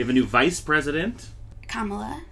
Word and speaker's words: Kamala: a new vice president kamala kamala debbie harris that's a good way to remember the pronunciation that's true um so